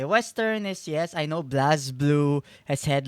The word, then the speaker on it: BlazBlue: Oh, do you mean pronouncing as Blaze Blue? I've heard people say either or. I've just gotten very used to calling it BlazBlue because if it was Blaze, there'd be an E after that Z, wouldn't there?